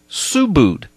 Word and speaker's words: Subud: to a cult called Subud, and it's spelled S-U-B-U-D. It looks, in English, it would look like it would be Subud, but it's pronounced Subud.